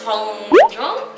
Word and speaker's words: Hongjoong: Hongjoong?